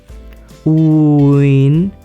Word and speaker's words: Nguyễn: First, lower down your voice, uin. Then raise it up very quickly, like uin, uin, uin, uin, uin, uin.